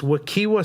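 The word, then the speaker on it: Wekiwa: Wakiwa Springs? Wakaiba. Wakaiba, yeah. Wakaiva? And it's pronounced with a V, yep. Yeah, it's Wakaiva.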